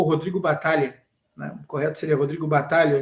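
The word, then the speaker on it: Battaglia: jogador um volante argentino o Rodrigo o Rodrigo batalha correto seria Rodrigo batalha o gênero É pronunciado nesse caso Então se o Rodrigo batalha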